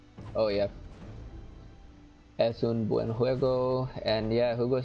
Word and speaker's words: juego: Yeah, I mean, es un buen juego. Or was it juego? No, it's actually juego. You said it right the first time. Juego.